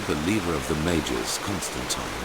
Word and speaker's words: Constantine: At first, I doubted my sanity, but after some time I told the leader of the mages, Constantine, about them. It's the correct way to say it.